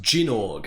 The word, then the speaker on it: Gynoug: It's called Jinorg. Jinorg. It's pronounced Jinorg.